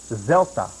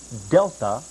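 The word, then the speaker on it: δέλτα: Also, we have no d in the Greek language as you are taught to pronounce it in English. It is not delta but delta. Zelta.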